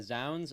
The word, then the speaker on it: Zounds: 4 albums that really moved you, and you sent me Zounds. That's how you say it, correct? Yeah, Zounds.